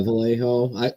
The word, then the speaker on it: Vallejo: Yeah, Vallejo.